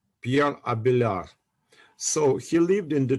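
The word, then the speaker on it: Abélard: Frenchman Pi Pierre abar abelar uh D is not pronounced Pier abelar so he lived in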